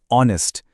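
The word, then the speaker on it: honest: लेकिन यहां H silent है। उसकी आवाज ही नहीं है। आवाज आती है ओ से ऑनेस्ट।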